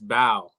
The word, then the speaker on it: Bau: i calling me it's bao king bao because some people because some people pronounce b.a.u but my last name's